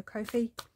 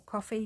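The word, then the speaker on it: Ko-fi: and so she's got freebies available on her Kofi or coffee depending how you like to pronounce it um to go along with that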